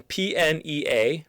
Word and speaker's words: pnea: And then PNEA, pronounced pnea, is referring to breathing.